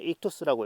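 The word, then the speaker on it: ΙΧΘΥΣ: 요게 뭐냐면 익토스라고 읽고요.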